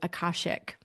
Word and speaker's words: Akashic: This symbol is actually the symbol for the Akashic archives, or some people pronounce it Akashic.